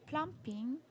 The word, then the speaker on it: plumbing: Some of these jobs include pumping, plumbing, Plumbing. plumbing. B is silent.